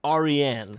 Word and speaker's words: Aryan: It's pronounced Aryan. Persian. You see, the Indo-Aryans, oh, the Yamnaya people, is that made up?